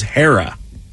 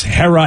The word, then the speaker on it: Hera: then Hera is h-e-r-a here's the problem I think a lot of folks don't know how to say a short e and a short a let me hear you say it again it's ha like hat no no you say